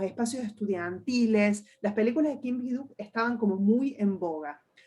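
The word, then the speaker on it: 김기덕: Pero la diferencia es que las películas de Kim Ki-duk, que en coreano se pronuncia Kim Ki-duk, habla básicamente de un capitalismo enfermo.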